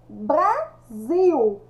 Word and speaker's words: Brasil: que nosso país chama Brasil eu escrevo com s e a pronúncia sai com Z letras e antônimo de